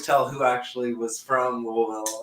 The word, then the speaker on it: Louisville: I basically moved to Louisville. Like I changed my pronunciation. Like it's not Louisville. It's not Louisville. It's Louisville. Like I literally say it correctly.